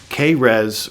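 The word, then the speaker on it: Keres: The K-res rates, I'm pretty much certain that's a literal pronunciation of these guys.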